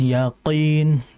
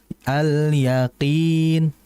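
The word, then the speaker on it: اليقين: Itu kemudian berikutnya hati-hati di qof. Jadi jangan ya. Yaakin itu kayak medok juga jadinya ya. Jangan yaakin gitu. Yang betul alyaqin qin qin. Jadi di apa? Dikurangi lagi. Jangan terlalu masuk pangkal lidahnya.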